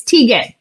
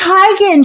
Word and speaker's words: Teigen: it's tegan is it is it not tegan oh it's tygan she went on a talk show or something and she was like yeah that's actually how you say it but everyone has been saying it wrong for so long that